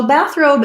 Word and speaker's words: bathrobe: word bathrobe bathrobe so bathrobe is a good example of a compound word we have the word bath and the word robe put together bathrobe um a robe you wear after the bath in compound words that are like this one we have stress on both syllables the primary stress is